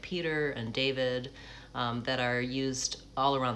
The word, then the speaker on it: David: Hi, my name is David. I say it like David.